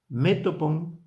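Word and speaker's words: μέτωπον: La palabra griega, vamos a decir la puedo pronunciar bien, metopon o metopon, creo que es más así porque lleva un acento en la e. Metopón.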